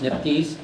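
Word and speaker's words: NPDES: Under its authority, the federal EPA established the National Pollutant Discharge Elimination System or NPDS, pronounced NIPDS, which created permitting programs for sources that discharge pollutants into US waters.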